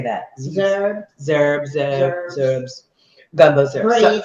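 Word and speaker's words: gumbo z'herbes: Gumbo zerbs.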